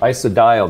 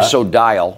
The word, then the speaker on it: Isodiol: Isodiol, they pronounce that. Isodiol.